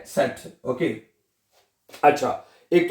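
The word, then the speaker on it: Zett: जेड को अभी कहते हैं सेट।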